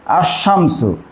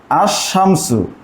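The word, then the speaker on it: الشمس: হয় তাহলে এখানে হচ্ছে আশামসু এখানে হচ্ছে আশামসু লামটার উচ্চারণ হচ্ছে না এই হরফ গুলোকে বলা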